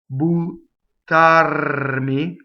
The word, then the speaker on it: buttarmi: Buttarmi. So double T, rolled R.